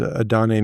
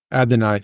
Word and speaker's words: Adonai: the third wide receiver there's Adon Mitchell um ad Adonai sorry my bad thank you for thank you for correcting the uh the pronunciation there um Jonathan Taylor still